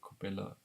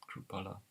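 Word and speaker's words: Chrupalla: Thank you, Mr. Kupala, for that. Krupala. I'm sorry for saying it wrong.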